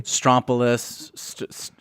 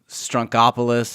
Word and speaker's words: Strompolos: It's hard to know where to emphasize the accent on the name.